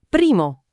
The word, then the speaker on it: primo: Antipasto, primo. Primo. Primo. Primo come in inglese, ma più morbido.